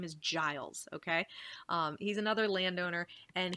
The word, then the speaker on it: Giles: Giles Corey is another farmer, another landowner, and his name is pronounced Giles. Students always want to call it Giles, but his name is Giles, okay?